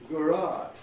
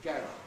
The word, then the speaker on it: garage: So Americans say ballet, cafe, debris, garage, right? Whereas we, of course, say ballet, cafe, debris, garage, with our fondness for getting the stress to the front of the word.